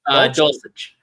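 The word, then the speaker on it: Dulcich: Dulich. Doulich.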